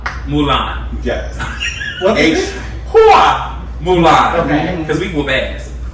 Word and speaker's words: Hua Mulan: Hua Mulan. Okay. Because we whoop ass. Oh. And. That is spelled HUA.